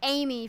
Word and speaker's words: Emig: So Dustin, I have gotten word that it's pronounced Amy for that driver.